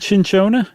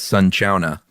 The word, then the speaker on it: cinchona: Is it cinchona? I just know it's neither. That's so us. It It I just looked it up real quick. It says it's sun-chona.